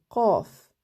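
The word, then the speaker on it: ق: Et la finale, on l'a vue, c'est le qaf. C'est une des lettres gutturales qui se prononce en fait beaucoup avec la gorge. On la sent au niveau de la gorge.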